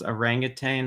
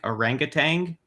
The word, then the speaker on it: orangutan: they're talking about is if they pronounce orangutan like orangutang yes um even though it it it like it's so easy to pronounce it like that like you almost feel like it should be pronounced that way but that was really